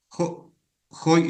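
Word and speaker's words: ὁ: y era Joáelos, Joadelfos, Jo antrópos, acuerde que va con Jo, eh espíritu rudo, por eso se pronuncia como J.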